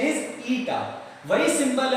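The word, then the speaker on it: η: So efficiency of transformer, it's symbol would be ईटा, it's pronunciation is ईटा।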